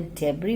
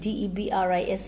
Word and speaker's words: debris: What happened after the hand pump started to block up with the debris floating around the cabins? Children, the pronunciation of D-E-B-R-I-S is debris, not debris, okay?